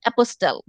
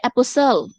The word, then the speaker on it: apostle: আমার খুব সমস্যা হয়, আমি ম্যাক্সিমাম টাইম এটা উচ্চারণ করি অ্যাপোস্টেল, that is a wrong pronunciation because I forget. Okay, learner সে যেই হোক, whether you are হ্যাঁ APOSTLE অ্যাপোস্টেল উচ্চারণ করি আমি, কিন্তু এটা রং প্রোনাউন্সিয়েশন, কারণ এখানে টিটা উজ্জ, এটা উচ্চারণ হবে অ্যাপোসেল।